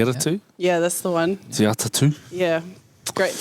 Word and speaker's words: Te Atatu: Te Atatu. Yeah. Great pronunciation.